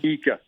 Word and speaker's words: Ika: How do you say his last name? Ika. Oh yeah. Ika. Okay, Yep, Ika. Okay, I just want to